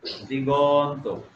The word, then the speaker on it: দিগন্ত: অ ঠিক আছে, কিন্তু ক গ হয়ে গেছে, দিগন্ত। দিগ এর পরে কিন্তু অ উচ্চারণ হয়, দিগন্ত।